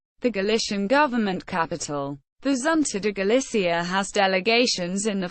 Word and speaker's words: Xunta de Galicia: The Xunta de Galicia, Galician pronunciation, ʻʃunta de ɡaʻliθja, Government of Galicia, is